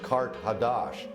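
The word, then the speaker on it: Qart-hadasht: Carthage, in the ancient language, is pronounced Kart Hadash, and that means new city.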